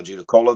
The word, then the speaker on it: Judaculla: I mean, there's an actual true Cherokee pronunciation, but the accepted term is now Judaculla.